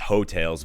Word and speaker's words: Heaux Tales: funny because you know obviously it's hotels but it's spelled you know h-e-a-u-x and i was